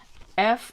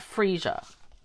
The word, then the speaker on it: Freesia: This is spelled Freesia. I say that Freesia. Other people I'm hearing say Freesia, like that's an A. So how would you pronounce it? E or A? I think it's Freesia.